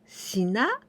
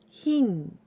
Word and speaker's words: 品: This kanji means products, goods, or items, and we pronounce shina or hin.